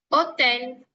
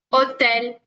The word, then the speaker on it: hotel: Porque nuestra H no tiene un sonido como en el español, ¿ok? Entonces eso es un gran ejemplo. Pero bueno, esempio qua, hotel, hotel.